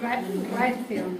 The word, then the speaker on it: Raytheon: Se llama Raytheon. Se escribe R-A-Y-T-H-O-N.